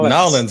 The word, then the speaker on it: New Orleans: Because I'm terrible at pronunciation. Nolans, bro.